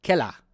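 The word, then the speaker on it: Keller: Kela.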